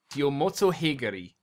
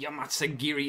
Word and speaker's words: Yomotsuheguri: I'm gonna dub the audio later because I'm not sure exactly how to pronounce it right now, so he's using the Yomotsuheguri as his armor.